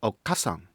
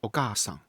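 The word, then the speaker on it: お母さん: If I say okkasann, am I saying ''mother'' in modern Japanese? Not quite. I should say okaasann.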